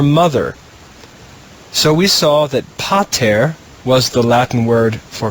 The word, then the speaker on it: pater: pay and we'll begin pa terra put those syllables together and we have the latin word pater pater now you can put